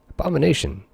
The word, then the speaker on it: Abomination: Abomination. Emphasis on the 2nd syllable.